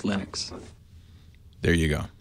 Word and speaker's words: Linux: pronounce my name but Linux is always Linux there you go Linux